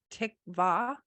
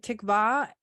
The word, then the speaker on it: Tikvah: up and the Hebrew word for expectation is Tikvah t-i-q-v-a is how you spell it in English although I don't always know if our spellings are perfect because we have a different language but Tikvah in the Hebrew what I thought was really